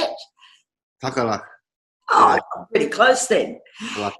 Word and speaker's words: Tagalaka: Tagalaka.